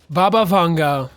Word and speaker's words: Baba Vanga: “Baba Vanga [“Bah-bah” “Vaughn-gah” (pronunciation video here): Baba Vanga was a blind prophet born in modern day Bulgaria in 1911.